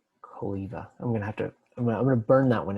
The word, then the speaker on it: Cholewa: Well, because I always read it as Cholewa in my brain whenever I saw his papers, and now I learned that it's pronounced as a V, not a W.